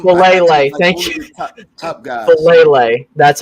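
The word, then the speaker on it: Faalele: Falele, that's how you pronounce it.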